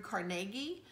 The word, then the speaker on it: Carnegie: Sometimes it's pronounced Andrew Carnegie. When I was growing up, it was oftentimes referenced as Carnegie Hall. So I've always pronounced it Andrew Carnegie.